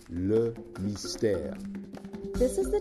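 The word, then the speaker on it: Le Mystère: for all occasions by the way Lily stairs pronounced look nice tear this is the tisha bra and the reason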